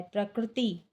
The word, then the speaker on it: प्रकृति: प्र, पा में रा लगा हुआ है, का में रा लगा हुआ है और ता में छोटी की मात्रा है, प्रकृति।